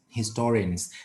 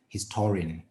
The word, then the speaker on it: historian: but this one is historian because you focus on the second part historian okay historian minak